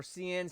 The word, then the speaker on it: Seine: So it is I think it's pronounced CN or Seine, Seine, so Seine.